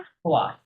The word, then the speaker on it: choix: লো উচ্চারণটা কি হবে ভাইয়া? choix, choix, choix.